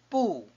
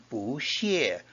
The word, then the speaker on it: 不: a first tone, the 不 of 不欢迎 not welcome.Is pronounced as a fourth tone. Bu followed by a first tone is a fourth tone.